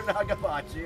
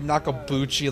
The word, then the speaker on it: Nagabuchi: I'm Professor Nagabuchi, and I. And I said Nakabuchi like a fucking moron.